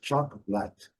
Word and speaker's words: chocolate: Essa tradicional também, CH, que já trazemos aqui a marca do T, e aqui nós, no português, quatro sílabas, no inglês apenas duas, chocolate, chocolate, que é um pouquinho mais longa.